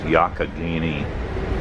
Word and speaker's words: Allegheny: I checked the pronunciation and it's pronounced Allegheny or thereabouts.